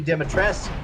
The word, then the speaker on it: Dimitrescu: until we get to Lady Dimitrescu, they're the biggest ones.